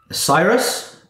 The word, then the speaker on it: Cyrus: do you spell that sir cyrus it's like miley cyrus except that will be